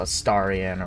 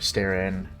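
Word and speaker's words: Astarion: me on that my Starion why are you staring huh huh just kidding I know it's a staran or a Stan it's pronounced different ways let's see that mural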